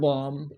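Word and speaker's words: bomb: মানে ফনি তার পছ পারে বম লাস্টবির আছে এইবি উচ্চারণ হয় বমুদ প্রনান্সিয়েশন কুদ উচ্চারণ বম অহমিয়া কি কয় বোমা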